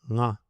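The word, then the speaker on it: ङ: The fifth letter, nga, is nasal. It is formed by using the nose, too, not only the throat. If you have difficulties understanding what it sounds like, try to pronounce anga or anka in slow motion, meaning anga or anka, so that nga The reason why some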